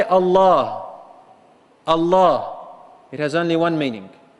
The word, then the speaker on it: Allah: if you say Allah, Allah, it has only one meaning, and it's actually a name. And it sounds like it's a two-syllable word. A two-syllable word.